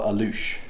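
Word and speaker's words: Alux: yourself in and the the name of the restaurant is called alush and it's spelled a-l-u-x so so we're gonna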